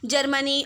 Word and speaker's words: czar: ज़ार को इंग्लिश में CZAR लिखते हैं और लेकिन पढ़ते उसको ज़ार ही हैं। ठीक है, सी साइलेंट है।